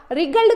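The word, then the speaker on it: wriggled: का मतलब होता है, डब्ल्यू साइलेंट है बेटा, रिगल्ड का मतलब होता है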